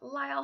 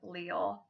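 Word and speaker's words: Lyall: that means wall then can also be pronounced Lyle however the original Scotch pronunciation is Leo as a mount allele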